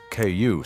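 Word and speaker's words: 九: And the number nine, ku, sounds like suffering.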